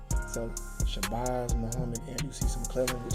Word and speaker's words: Shabazz: And then like me and my name being Shabazz.